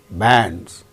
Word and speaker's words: bands: consonant sound before A, bands. After A, we find N, D and Z, bands, because D is a voiced sound and the plural marker is pronounced as Z, bands.